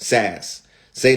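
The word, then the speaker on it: SaaS: that's called SAS right SAS say that with me y'all sass okay sex right and that's called software as a service right and it's spelled s a a s SAS right and whenever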